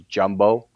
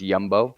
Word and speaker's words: Jumbo: front of his helmet it looks like it's jumbo but it's pronounced yumbo right um it's a